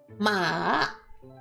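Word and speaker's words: 马: so for the third so for the third tone it would be Ma and for this ma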